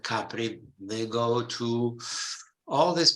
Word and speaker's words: Capri: They go to Capri, which they even pronounce differently. They call it Capri, not Capri.